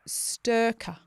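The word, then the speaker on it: Styrkr: Sturka.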